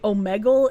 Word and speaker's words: Omegle: to be real with you Chad I've always pronounced it Omegle and when I hear people say omegal it makes me think of uh [ __